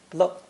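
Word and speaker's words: 了: the others remain unchanged most useful is the neutral tone of this character pronounced lo lo it's an indispensable grammar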